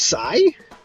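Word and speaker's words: Sae: It's pronounced Sai?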